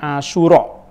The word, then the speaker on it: Asyura: Sebagian kadang-kadang kita membacanya Asyura tanpa hamzah.